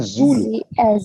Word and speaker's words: Zulu: जी एज इन जूलू. जू को लंबा खींचेंगे और लू को छोटा रखेंगे.